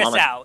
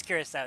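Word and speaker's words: Curaçao: You're not talking about Curacao. It is Curacao.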